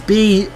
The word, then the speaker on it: Bruxelles: Is it Bruxelles or Brussels? I'm not quite sure how to pronounce it. It's Bruxelles. There's a yellow flag here.